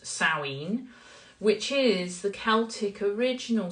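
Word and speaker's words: Samhain: s m ha a i n but it's pronounced sinen which is the Celtic original celebration of the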